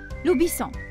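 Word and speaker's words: le bison: اسمي في اللغة الإنجليزية هو دبايسون، وفي اللغة الفرنسية لوبيسون. يكتبان بصيغة واحدة لكن يختلفان في النطق.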